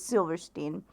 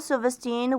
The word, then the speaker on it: Silverstein: I never knew how to pronounce his last name. I think it's Silverstein.